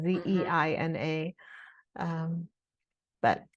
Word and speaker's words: Zeina: People have trouble saying Zaina, but because it's not spelled in a way that looks like Zaina, Mhm. Zeina.